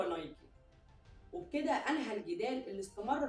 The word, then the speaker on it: Nike: وكان في جدال برضو حوالين النطق، هو بيتقال نايك ولا نايكي؟ ففي شابين من بريطانيا، واحد اسمه كيندل بيتر والتاني اسمه مارتن بين، بعتوا رسالة لفيليب وقالوا له بما ان انت المؤسس بتاع الشركة وعارف الموضوع من الاول، ما تقول لنا النطق الصح هو نايك ولا نايكي؟ فرد عليهم فيليب برسالة واكد ان الاسم او النطق الصح هو نايكي.